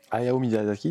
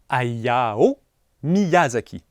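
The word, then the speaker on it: Hayao Miyazaki: Ayao Mizazki, c'est compliqué à prononcer. Bah, tu viens de le dire faux. Ayao Miyazaki.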